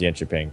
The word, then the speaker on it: Jönköping: I heard it pronounced Jönköping. But I guess I misheard. Or people were fucking... I'm pretty sure it's still the soft J. Soft J. Soft J? Okay. Yeah. Maybe... Jonkoping?